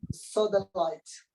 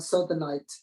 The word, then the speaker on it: sodalite: Rhodonite and sodalite. Sorry, what was that first? Say that one again. Rhodonite is RHODONITE. Rhodonite, and sodalite is SODALITE.